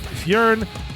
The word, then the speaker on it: Fyrn: charn dave is the co-founder and ceo of fjorn which is spelled f-y-r-n so if you're on your phone